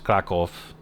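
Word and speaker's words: Kraków: She sounded a little more proper in pronunciation cuz a lot of times, you know, cuz it's it's Kakov is is really the way to say crack.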